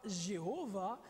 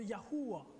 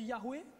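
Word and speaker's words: יהוה: Donc, Ya, et le nom de Dieu au complet, YHWH, la prononciation très certainement serait non pas Jéhovah, mais serait très proche de Yahuwah. Vous avez entendu Yahweh déjà?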